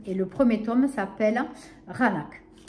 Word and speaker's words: Qaanaaq: Et le premier tome s'appelle Raanak. Ça s'écrit Q, ouais, comme vous voyez là affiché, avec un Q, mais ça se dit HR. Le Q se lit HR dans le Groenland.